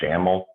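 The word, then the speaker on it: XAML: anymore in c sharp we use one called jammel which is uh it's spelled x-a-m-m-l but it has that ml at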